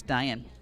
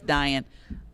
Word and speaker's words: Deanne: Deanne, it might be Diane. I believe it's Diane. Yes, Diane. It's spelled Deanne, but I thought it was Diane.